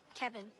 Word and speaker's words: Kevin: Kevin. Kevin. Kevin. Like Kev in.